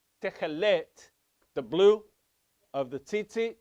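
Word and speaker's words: תכלת: It's not techelet, it's techelet. Okay? So usually, most words in Hebrew, it's ta ta ta ta ta ta. The emphasis is on the final syllable. Except the exception is when you have a double segol, a double E sound. Then it goes to the first syllable. So not techelet, but techelet. Okay?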